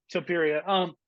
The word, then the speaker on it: Topuria: Hope I can pronounce this name right. Leah Tapuria, 14-0. Yeah, So I think Topuria. that's the appeal. Topuria.